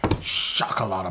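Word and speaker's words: Xocolatl: that shalot shot M it's actually the XO the sh s sound shakal moly so shakal I think vman's did it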